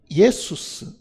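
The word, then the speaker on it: Ἰησοῦς: 근데 본래 이 헬라어는 예수스.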